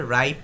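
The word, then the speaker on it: ripe: আপনি রিপ বলছেন রিপ না এটা হবে রাইপ পাইনাপল।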